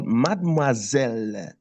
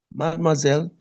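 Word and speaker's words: mademoiselle: You call Madmoazelle. Madmoiselle.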